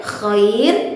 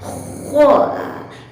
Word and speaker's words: خ: Contoh, terdengar misalnya gumpalan suara kho. Itu dihasilkan karena seluruh lidah berhadapan atau seluruh lidah tertempel kuat di atas langit-langit. Maka itu adalah pelafalan yang salah. Cara pelafalan huruf kha yang benar adalah dengan posisi lidah tidak terlalu dekat.